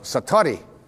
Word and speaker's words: satori: it's called excuse my Japanese but it's called Satori I'd love to say that sat s a